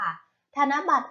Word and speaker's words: ธนบัตร: แรก คำ คำ นี้ อ่าน ว่า ธนบัตร ค่ะ ธนบัตร อ่าน ว่า ธนบัตร ธนบัตร ประกอบ ไป ด้วย ทอ